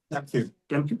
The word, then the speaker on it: Demkiw: We saw that, to speak about the police chief of Toronto, who, I don't know how you pronounce his name, Demkiw? Demkiw, okay.